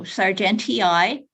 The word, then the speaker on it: sargentii: So we've got Viburnum sargentii, and they add the 2 double I's, and they're both pronounced. So sargentii, named after Charles Sargent.